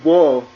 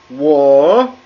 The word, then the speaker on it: 我: So it goes down at first and then up as you pronounce it. That's what makes this character mean I. The fact that it has a mixed tone. So in pronunciation, you wouldn't just say 我. You would say 我.